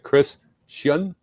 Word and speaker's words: Scian: Chris Scian. Better. Scian.